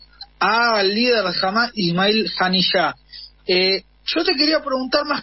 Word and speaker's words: Haniyeh: Ismael Haniyeh, al matar a Ismael Haniyeh, Haniyeh, así se pronuncia, no solamente han matado al líder de